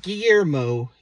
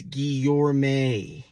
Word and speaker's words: Guillorme: the first one is ghee you're May it's not Guillermo it's guillorme next there's a lot